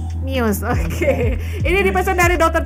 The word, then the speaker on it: Muse: lagu Unintended dari Muse itu bacanya Muse atau miuse itu mius miuse Oke ini dipesan dari